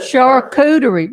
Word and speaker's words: charcuterie: Charcuterie. My own son, Beaver, has written today saying, pronounce it right, please, Mom.